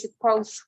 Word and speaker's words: supposed: Then be supposed, notice the pronunciation is supposed, right? Like a T, it ends like in a T, right?